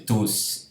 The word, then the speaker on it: tous: No caso, então, como pronome ao final de frase ou antes de pausa, o S se pronuncia.